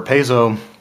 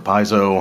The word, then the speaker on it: Paizo: So where Paizo, or Paizo, however you want to pronounce it, when these issues were